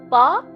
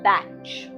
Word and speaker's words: Bach: park or batch depending on where you are in the world how you pronounce it makes no difference my journey into understanding